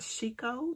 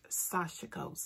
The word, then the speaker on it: sashiko: time we recorded i said it was i pronounced it chico that's the way i've been pronouncing it for the longest but um carolyn bloom who taught the class she the way she pronounces it is sasha ghost so that's what i'm gonna go with um